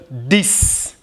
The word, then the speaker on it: dix: And then this is dix. Dix. Six. Six. Dix. Six. Dix. So the X sounds like S. Six. Dix.